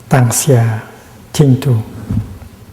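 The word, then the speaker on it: 當下淨土: And in modern Chinese, it's written pronounced Tang Xia Ching Tu, the Pure Land in the here, in the present moment.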